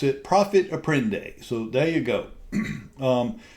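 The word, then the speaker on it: profit à prendre: Um it's my understanding that that's a French word and I don't speak French.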